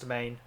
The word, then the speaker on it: demesne: manses yeah oh demesne but it's pronounced domain yeah yeah I'm with